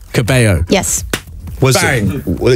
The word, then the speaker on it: Cabello: Your surname, every time I mention your surname on air, and I say Caballo because Shawn Mendes told me to pronounce it like that.